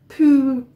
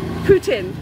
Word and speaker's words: poutine: Poutine, as in President Putin.